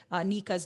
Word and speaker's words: Niqua: But just in case, if you are making a note of it, Nika's name is spelled Niqua.